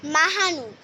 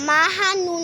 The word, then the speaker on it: মাহনুর: আফিন বানানটাও ঠিক আছে মাহানুর মাহানুরটাও মিস্টেক হয়েছে মাহানুন না মাহনুর এম এ এইচ এম